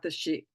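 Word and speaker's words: Sídhe: a book written about the she and and it's spelled s DHE it's an Irish ter term excuse me I have a dry throat so it's an Irish term and the she referred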